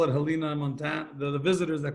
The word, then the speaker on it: Helena: I really wanted to know how to pronounce Helena. I thought, because we have one in Alabama, and in Alabama it's Helena. So there you go.